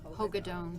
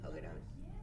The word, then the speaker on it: Hagedorn: And Hagedorn and Rena, well, how do you pronounce her last name? Hogadone, yeah. Hogadone.